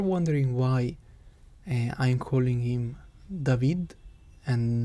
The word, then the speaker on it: David: why i'm calling him david and not david it's because this is how it is pronounced in spanish which is the language